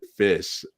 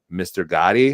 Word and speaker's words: Ghoti: Fish. And then, the first event's over and like they call my name and they're like, Mr. Ghoti. And I was like, it's pronounced fish.